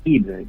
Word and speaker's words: Yves: Muy buenos días, estamos en la línea con Ives, si me corrige por favor. Buenos días, economista. ¿Cómo pronuncia su apellido? ¿Qué tal? Mi nombre es Yves, Yves.